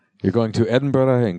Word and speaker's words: Edinburgh: But we'll be in the two largest cities in Scotland, which I've been forbidden from announcing, or pronouncing, I should say. You're going to Edinburgh and Glasgow.